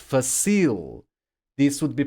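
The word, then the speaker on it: fácil: would be pronounced but Tria this would be pronounced facile this would be pronounced but no that's not the case we say Patria not Patria therefore the accent mark we say facil not facil therefore the accent mark and we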